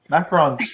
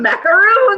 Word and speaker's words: macarons: lorine and I said how do you say these cookies macarons right I told you macarons and I've been calling them macaroons Macaro macaroons I just